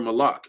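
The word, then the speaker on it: מלאך: The word malak, it means king or messenger, you know, or angel. That's what it means. That's how you say it in the Hebrew, you know.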